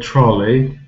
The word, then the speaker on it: trolley: stressed syllable for example in the word trolley the first syllable is stressed trolley we